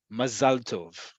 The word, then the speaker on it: mazal tov: ethnicity, Ashkenazi, Sfaradi, Mizrahi, mazal tov. It's really important. Again, emphasis is on the last syllable, mazal.